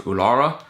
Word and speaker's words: Uluru: And the most iconic image there is Uluru, otherwise known as Ayers Rock. It's spelled Uluru, but we were told that it's pronounced Uluru.